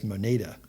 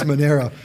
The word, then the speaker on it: Monero: So Monero, I was on with a client yesterday and I kept mispronouncing it as Moneda, and Moneda is a financial services company that has nothing to do with Monero, which is both spelled and pronounced differently.